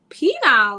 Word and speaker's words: pineal: right because it's the I call it P now but I know that's not I don't know why I pronounce it like that pineal gland um I was talking to my mom and she was like what I was like the penile and she was like pina like she thought it